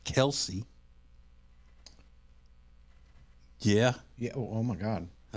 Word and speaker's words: Kelce: And the story is that their dad got tired of correcting people who would call him Kelce, and he just went with it. Huh. So they asked him if they could, go back to being called Kels, and he said, "Do